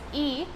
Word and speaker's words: y: This Y is pronounced as E, which is and in Spanish, and minutos means minutes.